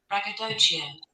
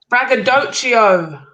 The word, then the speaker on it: braggadocio: to spend it wrong you're saying it wrong you've been saying it wrong listen this is how you say it braggadocio braggadocio what it's braggadocio what are you talking about what language no it's english that's not what